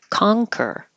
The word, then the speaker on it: conquer: in the front con but it's the NG combination in the back Kong like you're going to say sing back there coner conquer scarce air scarce conjugal